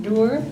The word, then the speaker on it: Dewar: Next we have Dewar. Am I pronouncing that correctly? Close. Close enough? How should I have pronounced it? Doer. Dewar. Very close.